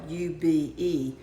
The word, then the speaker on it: ube: It's spelled u be, but it's pronounced ube.